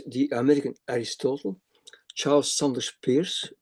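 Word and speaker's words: Peirce: Another one this is a very interesting guy the called the American Aristotle Charles Sanders Pierce Pur you have to pronounce he has been very influential as a chemist, mathematician, logician, philosopher and logician.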